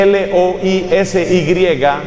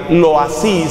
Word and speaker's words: Loisy: Otro sacerdote, se escribe L-O-I-S-Y, Loisy se pronuncia en francés, Loisy, uno de los grandes